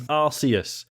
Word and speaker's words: Arceus: If they wanted you to say it the other way, they'd use a syllable with a K sound in it, which is, fair point.